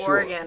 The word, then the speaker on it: Oregon: filmed elsewhere and like Oregon or something yeah I want to say that I said Oregon good you said it right I did either that